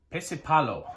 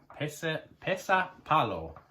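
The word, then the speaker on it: pesäpallo: Pesipallo. I'm hoping I pronounced that right. So the Finnish version of baseball is Pesipallo. P-E-S, 2 dots above the A. So P-E-S-A, 2 dots above the A. P-A-L-L-O. Pesapallo.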